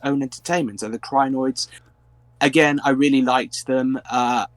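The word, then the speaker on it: Krynoid: It's Crinoid.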